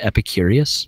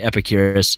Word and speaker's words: Epicurus: epicur I always forget his name is it Epicurious I thought it was epicurus epicurus or yeah all right epicurus who car I've been pronouncing it wrong the